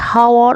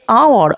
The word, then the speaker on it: hour: Here the spellings have h at the start, but the h is silent. We don't say hour or honest man. We say hour or honest man. Thus the words begin with vowel sound.